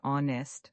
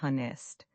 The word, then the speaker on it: honest: The word honest also has a silent h. We say honest, not honest.